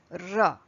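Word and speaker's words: र: Ra. Speak with me. Ra. So you roll the tongue and then you speak and pronounce this particular letter, ra.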